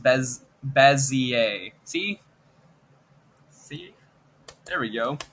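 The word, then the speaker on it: Bézier: Multiple pronunciation videos later, it is pronounced Bezier.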